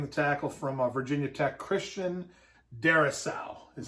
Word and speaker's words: Christian Darrisaw: I got him taking the tackle from Virginia Tech, Christian Darrisaw is how you say his name, I believe.